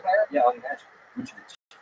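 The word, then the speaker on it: Vučević: Vucevic. Say his name again? Vucevic. So, yeah, that's pretty much spot on. Vucevic.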